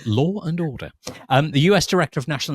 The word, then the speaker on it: Law and Order: a little bit on my favorite American mispronunciation, Law and Order. My father used to absolutely go nuts about that. He said there's no N in the middle of Laura. Who's Laura? So Law and Order.